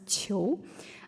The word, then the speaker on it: Qiu: And then Qiu, that's my last name, is pronounced as Qiu. And then Qu, and the last one is Qiang. So Q is pronounced more like cheese sound.